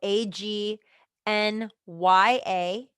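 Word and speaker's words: Ajna: So we Agna is the literally they literally spelled it out for you on how to pronounce it.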